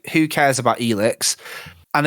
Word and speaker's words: Elex: It is Elex.